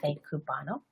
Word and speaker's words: Café Cubano: Is that how you pronounce it? Café Cubano.